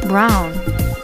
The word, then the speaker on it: braun: There are many more examples of this, like brown and braun, written a bit differently but pronounced almost the same way.